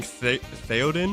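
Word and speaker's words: Théoden: What was the name of King Theodin?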